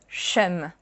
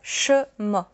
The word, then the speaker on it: cheum: But here, see, it's not chum. It's chum. We kind of made the word evolve.